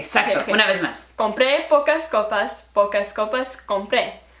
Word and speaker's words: compré: copas pagaré te faltó donde están los acentos asegúrate de que ese sea el la sílaba tónica como libre y sale una vez más compre pocas copas pocas copas